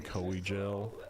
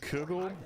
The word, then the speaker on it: Kugel: Don't call him Coegel. Coegel. It's just how my brain interprets it, man. I don't know what to tell you. It's pronounced kugel, like a really delicious noodle dessert.